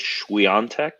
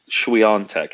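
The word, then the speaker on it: Świątek: The way people have been pronouncing it, it's Swiatek. Swiatek.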